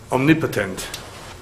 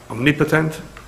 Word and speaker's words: omnipotent: is capable of everything, a kol yachol, as omnipotent. Did I pronounce that correctly? Omnipotent?